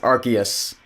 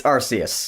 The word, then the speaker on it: Arceus: Arceus in the middle no it's not pronounced Arceus its Arceus the time-space and God